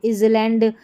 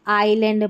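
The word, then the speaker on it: island: इसके रूल जान लेते हैं कि कुछ शब्दों में एस का उच्चारण नहीं होता। जैसे देखिए इसको इजलैंड ऐसे नहीं बोलते। आइलैंड पढ़ते हैं।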